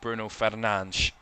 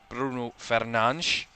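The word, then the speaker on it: Bruno Fernandes: Works it back to Bruno Fernan. That is his the way you pronounce his name. Bruno Fernan.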